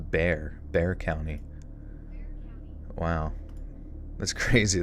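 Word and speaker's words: Bexar: r is is pronounced bear bear county wow that's crazy that the X just it's a silent x what my favorite dog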